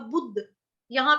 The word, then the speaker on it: बुद्धयः: अब बुद्ध, यहाँ पे आधा द, दवात वाला, दवाई वाला, दरवाजे वाला आधा द आएगा यहाँ पे, बुद्धयः। उसके बाद धयः, बुद्धयः।